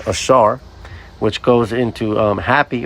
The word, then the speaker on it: Asher: Now first let's get the name Asher which um is pronounced Ashar which goes into um happy or happy is he.